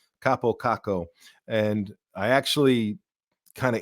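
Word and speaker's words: Kaapo Kakko: a Finnish Guy saying this is the proper way to pronounce Capo kako and I actually kind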